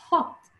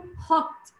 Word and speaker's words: hot: يعني البريتش بيقولوا عليه hot. مضمون. الامريكان بيفتحوه شوية. hot. البريتش بيقولوا hot. اكرر تاني hot. الامريكان بينطقوه hot.